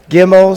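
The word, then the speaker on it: גימל: Gimel sounds like get in girl.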